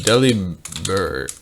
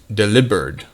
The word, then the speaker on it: Delibird: member eddie joseph the deliberate deliberate it's actually kind of pronounced that way uh as uh it's that's a pun on deliver like here's your delivery